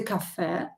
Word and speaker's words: кафе: Café is a cafe. Café. And coffee. Coffee is coffee. In Russian, coffee. And the stress is on the first syllable.